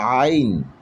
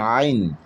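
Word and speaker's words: عين: এটা হলো আইন, একটু ভিতর থেকে উচ্চারণ করার চেষ্টা করতে হবে, আইন।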